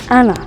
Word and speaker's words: Anna: My name is Anna. That's how you pronounce it. A lot of people say Anna, doesn't matter to me. I prefer Anna, right? Like the Spanish accent way to say my name, just because that's what